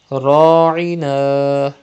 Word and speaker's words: راعنا: Ra'ina. Pronounce ra with thicker voice and stretch alif madda.